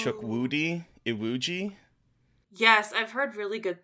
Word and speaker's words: Chukwudi Iwuji: The most evil villain I've seen in a Marvel movie, played by, I don't know how to pronounce his name. I apologize. It's Chukwudi Iwuji.